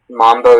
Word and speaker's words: mambo: Mambo is the only pronunciation.